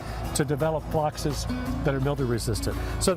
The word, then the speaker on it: phlox: So, if you haven't thought of phlox, it's spelled P-H-L-O-X. Not F-L-O-C-K-S.